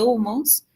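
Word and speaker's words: hummus: En realidad, esa Hay que pronunciarla porque es una transcripción al inglés y esa transcripción al inglés implica que la H se pronuncia de una forma que para nosotros sería como la J.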